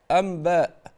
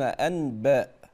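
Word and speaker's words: أنباء: ميما ميما ميما هكذا كذلك امباء يقولون امبا ولا يقولون انباء يقلبون النون ميما بل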